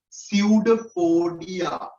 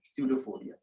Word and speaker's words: pseudopodia: Pseudopodia, right? P is silent. Pseudopodia.